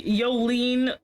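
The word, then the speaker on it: Jolyne: just Venom he's like see yolene is how you pronounce they aren't superum their Spirits are I'm still going to call her Jolene anyway because I'm not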